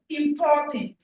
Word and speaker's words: important: The pronunciation is not important. It's im. When it is n, you say in. When it is I am, it is im. Because there is no the sound n in English.